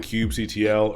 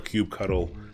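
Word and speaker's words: kubectl: we're gonna be using cube CTL or cube cuddle however you want to pronounce it we'll talk about that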